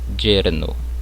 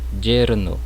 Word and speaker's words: yerno: No início da palavra, ela vai ter um som semelhante ao J do português, ó, yerno, mas eu posso pronunciar também com som de I, como em yerno, né? Que significa genro. Eu posso pronunciar tanto como som de I como um som de J, né?